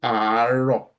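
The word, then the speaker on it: àárọ̀: So remember how this is pronounced. Aro. You need to drag this. This is why you have the double R there. You drag it. So aro. That means you drag that A there. So aro.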